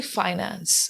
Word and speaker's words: finance: and the Practical aspects do we uh pronounce this as Finance or Finance I've also heard many English teachers also saying uh Finance it's actually Finance okay Finance Finance Minister